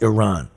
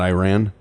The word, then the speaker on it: Iran: it USA versus Iran tomorrow yes and it's pronounced Iran yeah not Iran no that's uh what Flock of Seagulls yeah